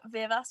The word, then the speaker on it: Wyrwas: follow my instagram any day it's it's vivas not sure if you're gonna know how to how to spell that but w-i-r-w-a-s um yeah posting started posting